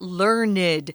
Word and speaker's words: learned: very scholarly and intelligent we actually will pronounce that learned and an instructor is